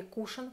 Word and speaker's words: кушон: Глянцевая помада Кушон, которая у нас не так давно вышла, она сейчас у меня на губах. Очень удобный кушон, да, или кушен, как правильно называть, кушен, ударение на букву У, выкручивается, и мы можем наносить помаду.